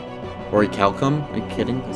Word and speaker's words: orichalcum: Orichalcum. Is Orichalcum... How do you actually say it? I don't even care. At least it didn't say Orchiculum.